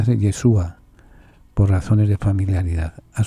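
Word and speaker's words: ישוע: dios yehoshúa se abrevia va solía cortar se pronuncia de yeshua por razones de familiaridad a su vez en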